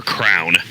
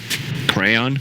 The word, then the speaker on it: crayon: you say it Lacoste is it crayon cran or Crown crayon okay you got it right dude some build America call it a crown like a crown you wear but it's